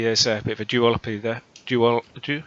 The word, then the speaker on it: duopoly: So maybe there's a bit of a duopoly there.